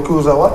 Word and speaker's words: Kurzawa: Non, c'est Kurzawa. Vous savez, par rapport à... Pour le Guadeloupe. Par rapport à la prononciation, moi, j'ai un avis qui est encore exagéré, vous ne pouvez pas changer.